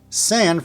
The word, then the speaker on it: San: Now, make sure that you don't pronounce san like sand from the word sand or like sun. Open the A up a bit. You know, like when you go to the doctor and she asks you to open your mouth while she checks your throat. Ah. Now, just make it a little quicker. Ah. San. San. Got it? Excelente. Pablo needs to have the